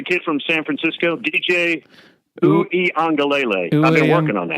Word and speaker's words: Uiagalelei: Who is Do you know how to pronounce the kid from San Francisco? DJ Uiagalelei. I've been working on that. Uiagalelei?